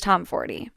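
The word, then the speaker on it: Tomforde: Classics include, but are not limited to, Caught Up by Liz Tomforty. By the way, I did learn that the E at the end of Liz Tomforty is supposed to be pronounced.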